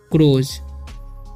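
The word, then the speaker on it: crows: ठीक है, क्रोज, इसे पढ़ते हैं हम क्रोज। ठीक है, क्योंकि यहाँ पर ओ का उच्चारण ओ हो रहा है, OW का ओ हो रहा है।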